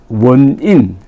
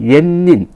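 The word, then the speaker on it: 円仁: 그 계기가 된게이 분이 일본의 원인 일본 발음으로 옌닌 옛닌이라는 일본 전태종의 승려가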